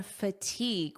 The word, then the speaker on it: fatigue: We're talking about brain fatigue, when your brain feels like this. Notice the pronunciation here, fatigue, eeg, fatigue. Repeat after fatigue.